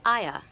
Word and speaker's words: Aya: But they also call her, she has a nickname, and they call her Aya. But it's not, it's spelled like Aya, like at the beginning of ayahuasca.